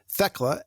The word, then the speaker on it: Thecla: thea so he says i've always read thecla and thea with a hard t instead of a soft th that's kind of cool